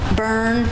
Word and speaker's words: Bjorn: Born, Bernays. Bjorn, Burn. They always say Born. We tell people weekend at Bernie's or Bernie. That's how you pronounce it.